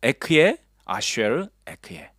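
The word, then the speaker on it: אהיה אשר אהיה: 자, 발음이 기억나십니까? 자, 에크에, 아쉐르, 에크에.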